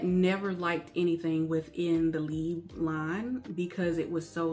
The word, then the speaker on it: Libre: If you want to, you can go into Google Translate and put in Libre. That is how we say it in the US, but that is not how it's pronounced the French way.